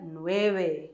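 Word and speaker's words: nueve: Olha a diferença do 9. Fica 9. O Vzinho com som de B, não é?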